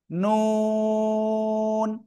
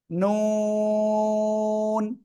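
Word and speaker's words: نون: নুন। জিহ্বার আঘাত তার বরাবর উপরে তালুর সাথে লাগিয়ে চার আলিফটা নিয়ে আমরা এ অক্ষরটা উচ্চারণ করব। নুন।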